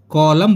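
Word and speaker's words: column: कहां-कहां silent रहता है यदि एम के बाद एन प्रयोग हो तो एन साइलेंट रहेगा जैसे की कॉलम सी ओ एल यू एम एन लिखित हो जाएगी परंतु फ्रेंड्स साइलेंट रहती है तो सी ओ एल यू एम एन कॉलम बोलेंगे कॉलम यानी की पृष्ठ का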